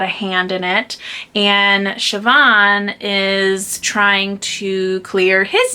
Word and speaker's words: Siobhan: a book about um siobhan and i think that's how you say her name it's spelt really differently but the audio it sounds like siobhan she is the eldest